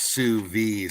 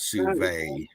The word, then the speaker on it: sous vide: And now Deb R said I sous vide most of the summertime meats. And you must be from Georgia. That's sous vide, sister, not sous vide.